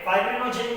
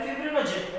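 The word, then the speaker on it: fibrinogen: Okay, फाइब्रिनोजेन या फिर फिब्रिनोजेन ऐसा उसका प्रोनाउंसिएशन है।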